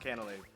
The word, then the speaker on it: Canalave: I looked it up, it is pronounced Canalave.